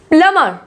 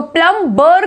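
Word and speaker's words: plumber: Next है प्लमर, प्लमर बोलेंगे इसको, प्लम्बर करके नहीं बोलेंगे, प्लमर।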